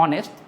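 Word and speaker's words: honest: अगर मैं बात करूं ऑनेस्ट में तो ये एच क्या है? ये साइलेंट है। आप यहां से पढ़ते हैं। तो जो पढ़ रहे हो ऑनेस्ट तो पहला जो लेटर हम लोगों का साउंड वो क्या हो गया? वो तो आपका ओ साउंड है और ए इ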